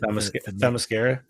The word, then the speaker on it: Themyscira: Themyscira.